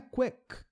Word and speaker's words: quick: O som é o som não é quick. Você não vai acrescentar uma sílaba nova aqui. Não tem isso, tá? Então o som do K em inglês é então é quick, termina nesse som.